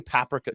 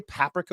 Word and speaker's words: paprika: Do you say paprika or paprika? Paprika. You say paprika. I papa. I say in Romania. In Romanian it's paprika. Paprika. But in English I say paprika. Paprika. Most Americans say paprika.